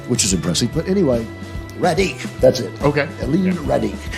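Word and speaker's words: Radigue: But anyway, Radic, that's it.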